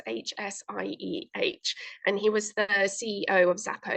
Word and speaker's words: Hsieh: I'm not sure how you pronounce the name. It's Hsieh.